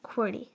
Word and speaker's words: QWERTY: Um, if you don't include the UI Oop in the top row goes Q W E R T Y which is pronounced as Querty.